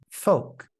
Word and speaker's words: folk: The L is silent in the following words: half, Calm, palm, salmon, folk. yolk.